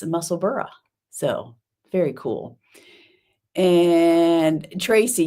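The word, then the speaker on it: Musselburgh: thought well maybe not maybe I just thought it was muscle BG because you know that's how we pronounce things over here but uh no it's muscle burra so very cool and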